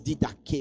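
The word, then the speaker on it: διδαχή: En fait, on prononce didaké au fait.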